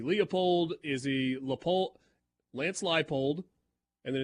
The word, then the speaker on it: Leipold: The two Kansas coaches have their last names mispronounced on the regular. We get the scope. Is he Leupold? Is he Leopold? Is he Leopold? Is he Leopold? Lance Leipold.